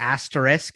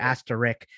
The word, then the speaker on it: asterisk: tennis is headed yeah i feel like you pronounced it right 20 minutes ago with the asterisk and then you went to ask to rick and i i said